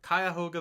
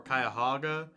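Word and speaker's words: Cuyahoga: I started out by visiting the second national park of the trip, Kyahoga Valley. For the pronunciation, I saw it could be pronounced Kyahoga or Kayahoga, or I'm completely mispronouncing it.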